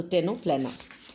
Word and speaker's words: Ctenophora: C is silent, so Ctenoplena.